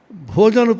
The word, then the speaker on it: bhajan: And misfortune because I am standing between you and your Bhojanu Prasad. So we want bhajan in Bengali. Bha is pronounced as bho.